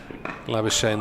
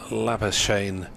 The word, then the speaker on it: Labuschagne: Labuschagne rhymes with champagne or Labuschagne, approximately.